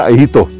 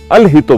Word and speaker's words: अलहितो: नमस्कार, मैं प्रोनाउंस कर रहा था अहितो, इन्होंने बताया अलहितो बोलते हैं, इसका मतलब होता है चलो चलें, राइट, कुमाऊनी में।